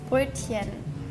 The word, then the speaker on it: Brötchen: I'm so bad at pronunciation. Brötchen. Oh, that's not bad. It's brochen.